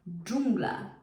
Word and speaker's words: dżungla: like, I don't know, like j actually in English. Jungle. dz jungle dżungla jungle dżungla dżungla dżdżownica Now, this one is a hard word, so don't worry about it.